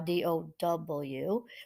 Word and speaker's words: Tao: Its followers strive to live according to the principles of the Tao, pronounced Tao, Dow, which they believe governs the order of the universe.